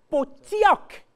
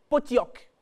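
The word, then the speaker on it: Pottok: dans certaines autres graphies vous verrez P o t t o K et vous lirez dans l'un ou l'autre cas potioc il n'y a pas de i d'écrit mais on le prononce en le lisant potioc quel mot issu du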